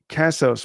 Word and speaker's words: Casos: Casos, pronounced like pesos.